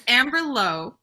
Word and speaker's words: Amberlough: It's Amberlough, like dough, a mnemonic that I have because I published the book and learned of her existence, a YA author named Amber Lowe, whose Twitter handle is Amberlough.